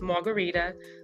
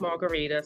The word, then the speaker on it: Marguritte: um my name is Margarita so you see it on the screen here it looks like margarit but it's pronounced Margarita so go follow me